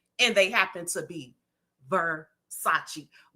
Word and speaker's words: Versace: And they just so happen to be, I know you will pronounce it Versace because you don't know nothing about that. Uh-huh. Huh? Excuse me, baby, these are Versace.